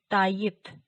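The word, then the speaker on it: Tayyip: अगले कॉलम में देखिए ताइब, ताइब यानी तैयब, तैयब जो हम उर्दू में इस्तेमाल किया जाता है, तैयब, उसको तुर्कचे में इस तरह से लिखा और प्रोनाउंस किया जाता है ताइब।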